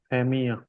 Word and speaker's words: famille: If we have ILLE together, the sound will be E, E. For example, how will we pronounce Famille.